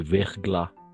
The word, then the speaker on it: verglas: Il y a du verglas. D'accord. La S al final, como hemos dicho, no se pronuncia.